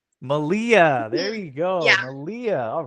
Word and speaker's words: Malia: Malia. Malia. There you go. Malia.